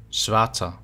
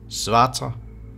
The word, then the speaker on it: svarta: In Old Norse, black is pronounced svarta. And compared to Danish today, in Danish you say sort. So in Old Norse it's svarta, in Danish it's sort.